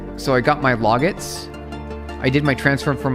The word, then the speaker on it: logit: It's pronounced the same as the word logic. Just replace the C with a at with a t. Oh, log log it. Oh, log it.